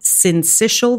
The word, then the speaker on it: syncytial: is, help me with this because I always mispronounce it, but it's respiratory syncytial virus.